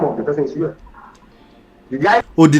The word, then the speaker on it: Yul: UL, is that how you pronounce it? Oh, it's UL?